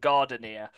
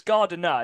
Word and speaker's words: Gardiner: That's Dunbar and Gardenier. It's Gardiner, isn't it? Not Gardenier. I don't know. I think it's Gardiner. The way it's spelled, it's just Gardiner.